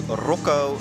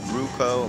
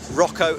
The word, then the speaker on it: Rocco: have a new contestant it's roko not ruko maybe I did a bad job he specific no I don't know he specifically messaged me saying can you please say my name right yeah Rocco not ruko so Rocco I hope